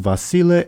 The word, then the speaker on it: Vasile: It's pronounced Vasile, and it's basically like a variant of the name Basil.